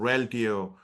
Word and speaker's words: Reltio: Like I'm an advisor in a company called Reltio, which started with an MDM.